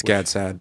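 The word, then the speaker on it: Gad Saad: Well, God has, Gadsad or Godsad. He has a background, I think. It's Gadsad. That's how he pronounces Gadsad.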